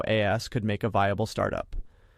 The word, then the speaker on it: AAS: Alignment as a service, AAS rhymes with Haas, is the idea of paying for a recurring service fee to either enable or monitor LLM endpoints.